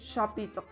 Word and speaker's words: chapitre: caso de la C, si nosotros tenemos una C con una H, va a sonar como un sh en inglés. Por ejemplo, cuando nosotros tenemos esa CH en inglés, nosotros la pronunciamos como sh. Entonces, un ejemplo de esto es la palabra chapitre. Nosotros vemos que hay una CH, entonces podríamos decirlo como ch, o podemos decir chapitre, pero no, es chapitre.